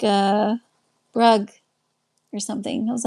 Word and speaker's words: Bruges: And they said, "It's not Bruges. It's not pronounced like French. It's pronounced like like uh Brugge or something.